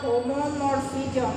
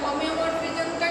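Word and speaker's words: homeomorphism: তবে এগুলো আরেকটা ডেফিনেশন আছে তোমার হোমোমরফিজম বা টপোলজিক্যাল ম্যাপিং, আর 7-8 নাম্বার হোমোমরফিজম। homomorphism বা topological mapping A homo HOMEO এটা বানানটা হলো HOMEO হোমিও তাহলে হোমিও হবে হোমিওমরফিজম one BJ 1 on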